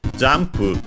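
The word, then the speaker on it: ジャンプ: Then we have jump shinagara kogeki suru to kaiten giri mo dekiru zo. Jump from English, jump should be accented on the first one.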